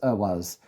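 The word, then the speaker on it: Ehwaz: I mispronounce and interchange them a bit, and I will always correct myself. So this is Ewas, the horse rune.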